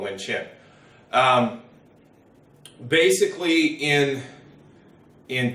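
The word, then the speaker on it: Vientiane: embassy up and we had chin wind chin or V n TN depending on who you talk to how you pronounce that I always called wind chin basically in in K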